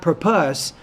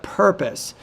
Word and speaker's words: purpose: effort sometimes you have word stress shifts for example with the word purpose not purpose but purpose so you your intelligibility